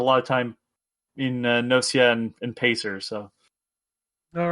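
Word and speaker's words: Gnosia: and i finished uh nosia which is the proper way of saying it unless they've decided to pronounce the word wrong uh because it's based off the word gnosis um latin and all that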